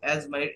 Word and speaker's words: asthma: Allergy, অ্যাজমা, এই দেখেন ASTHMA অ্যাজমা, এই এই মেডিকেল বিষয়ক শব্দ অর্থগুলো কিন্তু লেখা একরকম থাকে, উচ্চারণ একরকম হয়, পাশে বাংলা দেয়া আছে, ভালোভাবে পড়বেন।